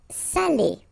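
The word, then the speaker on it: sale: and it means cheap okay Sally so remember it's quite important because we've got the same adjective here without the accent so if you don't put the accent it means dirty and then you pronounce it Sal but in that case here okay you put the accent and it's quite important because in that case it means salted okay Sally okay it says Sally say delicio say delicious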